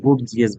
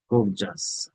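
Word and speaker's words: gorgeous: Of course I have already visited some of those গোর্জাস, কেউ গোর্জিয়াস বলবেন, এটা হবে গোর্জাস প্লেসেস বিফোর, আগে অনেকগুলা ভিজিট করেছি।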